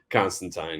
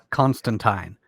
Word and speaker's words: Constantine: Neil Gaiman will tell you it's Constantine. I believe Alan Moore will tell you it's Constantine. Yeah. But I've always said Constantine. My justification is that I also don't say aluminium. Oh, well, So, this isn't